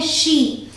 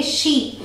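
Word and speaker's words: she: ठीक है, अगला है शी, एस एच ई, इसे हम प्रोनाउंस करते हैं शी। याद रखिएगा ये शब्द है, इसे आप सी प्रोनाउंस नहीं करेंगे, इसे आप सी नहीं बोलेंगे, ये गलत हो जाएगा, आप बोलेंगे शी।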